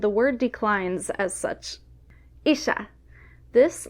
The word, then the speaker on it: ixa: Isha.